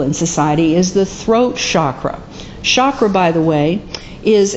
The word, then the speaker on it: chakra: it is from Sanskrit in which the letter c is often pronounced with a sh sound as I understand it